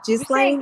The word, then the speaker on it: Ghislaine: Ghislaine. You're saying it right. Okay. Maxwell. Yeah. It's an unfortunate pronunciation. I don't like saying jizz in any fashion, but she is.